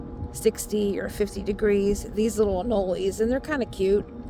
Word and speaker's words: anoles: that are called anoli I think it's spelled a n o l e s I think that's what they're called anoles I think that's how you pronounce it um so they're